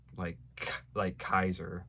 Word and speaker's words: Caesar: from Caesar, just like Kaiser. In fact, I believe actually in Latin that's supposed to be a hard sound, like Kaiser, like Julius Kaiser.